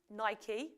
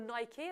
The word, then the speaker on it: Nike: Geographic is it Nike Nike you know I'm saying it properly not like Nike as the Americans say Nike football I suppose this